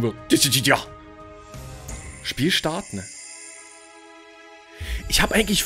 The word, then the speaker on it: Dissidia: Jetzt wissen wir es, wie es ausgesprochen wird. Dissidia.